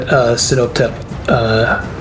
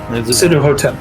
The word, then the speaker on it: Sinuhotep: And I would like to use my standard action to get Sinoptep into his mindscape. Okay, go for it. Okay. You enter in. For Sinotep. Sinuhotep. Sinuhotep, that's how you pronounce it.